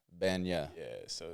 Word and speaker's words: Bagnah: So it's pronounced Bagnah. Bagnah.